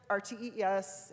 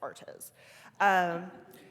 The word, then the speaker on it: ARTES: And we don't pronounce it RTES, it's ARTES.